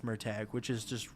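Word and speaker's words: Murtagh: gonna come out in November I called him murtog but apparently it's pronounced murtag which is just wrong but apparently I mean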